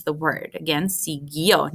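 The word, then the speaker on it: siguió: pronounce the word again sigyo not siguio the only job of the u here is to keep the g as a g because if it weren't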